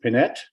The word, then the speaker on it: Panette: and uh County Supervisors my name is panette it's often mispronounced like panetti but I don't blame